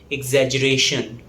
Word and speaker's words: exaggeration: The next word is exaggeration. Yes, it's difficult to pronounce. Let's pronounce it slowly. Exaggeration. Exaggeration. The stress falls on ration. Exaggeration. It's often mispronounced as exaggeration.